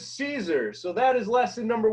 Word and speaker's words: Siser: bought it online and you're saying Siser, Sister, or Sister, it is Siser.